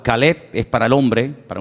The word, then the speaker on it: Caleb: Para diferenciar el nombre del perro se pronuncia diferente, pero se escribe igual. Caleb es para el hombre, para un hombre propio.